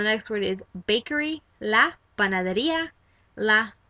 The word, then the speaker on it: panadería: So the next word is bakery, la panadería, la panadería. I kind of add that little jump just so that you can associate that is the syllable emphasis.